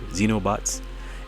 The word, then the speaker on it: xenobots: know what xenobots is it's pronounced it's spelled x-e-n is in no XE and O like exactly like Xavier xenobots and they were like